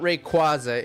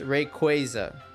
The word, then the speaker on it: Rayquaza: It's not Rayquaza, it's Rayquaza. So if if you've ever wondered how to properly pronounce it, it's Rayquaza according to Pokemon.